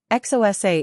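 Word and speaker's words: Xhosa: 142 XOSA is pronounced with a preliminary click of the tongue like a cluck to encourage horses.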